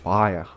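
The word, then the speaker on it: Bhaer: Ele não é pronunciado nem como Ber, nem como Bir, como as pessoas costumam falar, mas algo entre os dois, como somente os alemães sabem fazer. É Bayer, Bayer, Bayer.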